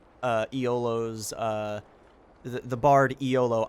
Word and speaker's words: Iolo: iolo's uh The Bard eolo i o l o pronounced pretty much exactly like YOLO um uh like him